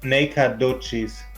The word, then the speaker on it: Nacogdoches: According to the international thing, it is pronounced Nacogdoches. Oh, okay, Nacogdoches.